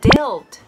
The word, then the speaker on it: dealt: と言いました dealt はですねえ deal の過去形になりますこう ED がつくパターンではないのでちょっと発音気をつけてください dealt with になり